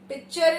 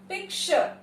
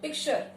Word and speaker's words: picture: पिक्चर is wrong English, incorrect pronunciation. The correct pronunciation of the word is पिक्चर. हल्का सा श का sound, पिक्चर.